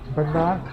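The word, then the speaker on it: bánh đa: Banda?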